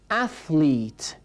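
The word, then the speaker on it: athlete: مرد بودنشم فرق نمیکنه اتلیت صدای تی اچ یادتون هست تمرین کردید تلفظ کردید نوک زبان باید تقریباً بین دندان‌ها قرار بگیره و این صدای ف مثل صداهای وان تو مثل صداهایی که درک یو هست و صدای اتلیت اتلیت ورزشکار بگید اتلیت اتلیت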